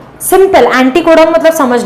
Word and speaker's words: एंटीकोडॉन: Anti मतलब aunty नहीं, एंटीकोडॉन. बहुत बच्चे अंटी प्रोनाउंस करते हैं, सीरियसली. एंटीकोडॉन होता है.